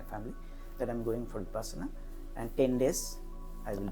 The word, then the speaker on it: Vipassana: Actual pronunciation Vipassana. In English it is called Vipassana.